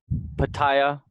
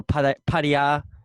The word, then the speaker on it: Pattaya: He was in Pattaya or Pattaya, or depending on where you're from.